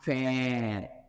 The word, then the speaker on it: faire: Et que vous entendez la lettre qui suit, dans ce cas, vous allez transcrire E, comme dans faire.